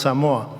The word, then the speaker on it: Samoa: They pronounce Samoa.